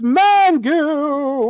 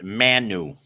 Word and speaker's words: Manu: And there's Miss Mangu. No. You're saying it wrong. It's Manu. No G's anymore.